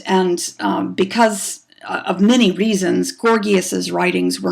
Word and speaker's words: Gorgias: Again, his name is pronounced with the hard G's, Gorgias, Gorgias.